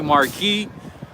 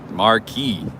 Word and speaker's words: marquee: people say marquis some some people say marquis i've heard both but i've never stayed in one so i don't know maybe maybe maybe after i stay one of them maybe i might know how to say it properly right marquee thank you thank you